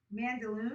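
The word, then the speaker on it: Mandaloun: you'll get it wrong it's okay let me mandalore that's correct you got it boom mm-hmm john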